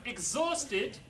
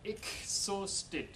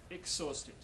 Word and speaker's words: exhausted: is D thank you very much um right exhausted um is pronounced IG not usted a and a sound exhausted Dutch people tend to change it into exhausted yeah so the G is D voiced uh